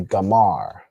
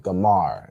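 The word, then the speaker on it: גומר: Goomer in Hebrew would be Gamar. All right. Gamar.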